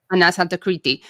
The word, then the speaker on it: Anas Al-Takriti: And I came across a really helpful interview that you had done with Anas Al-Takriti. Is that how I say his name? Correct. Anas Al-Takriti, who is himself a British Iraqi.